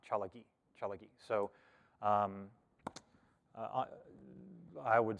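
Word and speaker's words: Tsalagi: say cherokee and cherokee that is pronounced chalaki um be written or spelled t-s-a-l-a-g-i chalaki so um i would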